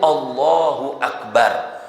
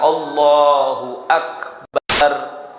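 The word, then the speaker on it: الله أكبر: makhroj Hurufnya harus betul huruf Kaf ya dibaca Kaf jangan berubah jadi huruf yang lain kadang-kadang perubahan huruf Kaf jadi Kha Ya seharusnya dia mengatakan Allahu akbar dia bacanya Allahu akbar ya Nah itu salah ya itu membuat takbirnya tidak benar ya Dan kalau tidak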